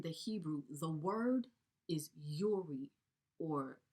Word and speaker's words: Uri: the 221 in the Hebrew, the word is Uri, or Uri is how they pronounce it.